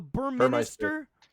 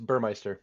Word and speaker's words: Burmeister: butcher it the burm the bur Minister it's Burmeister Burmeister thank you with a 2.0